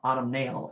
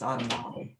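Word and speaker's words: autumnalis: latin preface is that you're supposed to pronounce every syllable so it's not autumn autumn nail it's on a model um florida's floribunda multiflora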